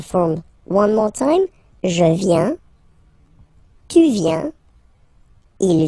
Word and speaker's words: viens: First form, je viens. Final S not pronounced. Je viens. Remember, I-E-N, ien, ien. Je viens.